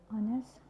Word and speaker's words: honest: And it's sometimes not pronounced at the start of the word, like honest, hour. And it's sometimes not pronounced at following at this tree, like C, G, R.